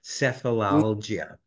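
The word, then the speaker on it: Sefalaljia: to thumb through it and there was the sephilia that's the proper pronunciation sephilia which essentially means headache I think it's Latin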